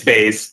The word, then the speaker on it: Bas: Bas I'm afraid I'm is it baz am I am I pronouncing your last name correctly it's Bas just making sure I